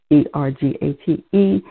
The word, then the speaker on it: ergate: case they didn't i didn't say that ergate e-r-g-a-t-e for the pronunciation ergate now we're going to have to